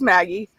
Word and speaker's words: Magaidh: It's just Maggie.